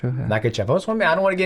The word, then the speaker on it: Makhachev: How do you pronounce? I want to make sure I say your last name right. Makhachev. Makhachev. Yeah. Makhachev.